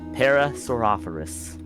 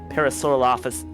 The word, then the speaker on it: Parasaurolophus: Yeah, there's an L in Lophus.